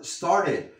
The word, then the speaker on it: started: No digas started, aquí no hay una E. Y esto no lo vas a pronunciar como T, lo pronuncias como una R suave. Started, started, porque tenemos sonidos vocálicos. Y como ya tenemos una R, pues la continuamos.